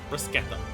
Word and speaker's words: bruschetta: Generally, the Italian word has a sh, it's pronounced as a k. Bruschetta. So I didn't realize that was a specific thing. I didn't realize CH was a K sound in Italian, like in general.